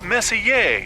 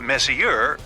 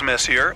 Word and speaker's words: Messier: stands for Messier pronounce Messier not Messier as in is your room messier than mine Charles Messier I mean Messier to